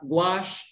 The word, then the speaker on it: gouache: knowledge sir okay uh actually it's gouache no it's pronounced uh gouache is under the family